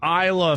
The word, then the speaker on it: Isla: stars andy samberg an Isla Fisher steve Islafisher Heard that promo million times and Its LaFisher This is silent in her name.